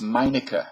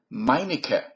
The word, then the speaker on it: Meineke: And by the way, it's Meineke. You know the muffler? Meineke, not Meineke. Would it kill them to pronounce it correctly?